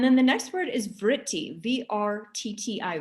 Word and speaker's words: vritti: yoga's chitta and then the next word is vritti v-r-t-t-i vritti and it's kind of like it sounds it